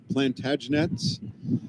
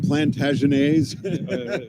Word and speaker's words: Plantagenets: opportunists here were you the plantagenets which i always kept saying plantagenese there's several pronunciations we had at every time station in 2017.